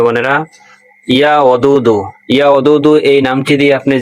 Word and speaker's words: ইয়া ওদুদু: উচ্চারণ করলে বলা হয় ইয়া ওদুদু, অর্থ হলো অত্যন্ত প্রেমময়, সবার প্রতি অগাধ ভালোবাসা ও করুণা প্রদর্শনকারী।